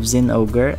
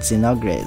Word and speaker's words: Zinogre: In my last video, the unboxing, I mispronounced the name. Instead of Zinogre, I said Zinogre. Sorry that I butchered that name.